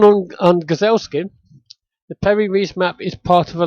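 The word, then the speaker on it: Piri Reis: perry Ree map uh spelled P I R I like Perry perry yeah like Yeah just like that and uh R E I S uh this map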